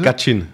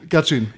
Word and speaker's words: Gachyn: Und damit heiße ich dich hier willkommen, lieber Gachin, ist das richtig ausgesprochen? Gachin, ja. Nochmal bitte? Gachin. Gachin.